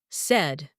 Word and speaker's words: said: But remember that said has a different pronunciation said.